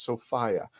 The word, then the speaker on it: Sophia: So everybody, the correct way to say her name is Sophia.